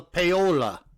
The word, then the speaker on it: Paola: I think it's Paula, Paola, in Guatemala. Well, in Spanish, people with that name, they call each other Paola. Oh, so it is Paola.